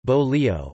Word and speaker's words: bolillo: A bolillo, Spanish pronunciation, bolillo, or pan francés, meaning French bread, is a type of savory bread traditionally made in Mexico but also made in Central America.